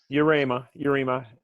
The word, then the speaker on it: Yarema: John, I'm always going to screw up the pronunciation on your last name, though. Yarema.